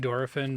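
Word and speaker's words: Dorephan: wondrous thing is King dorfin really just like the Japanese pronunciation of dolphin they want to just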